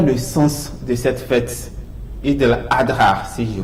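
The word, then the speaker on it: عيد الأضحى: Mais souvent on prononce l'Aïd. Oui. Bon, C'est pas la bonne prononciation donc c'est normale. Eid al-Fitr Oui. ou bien Eid al-Adha.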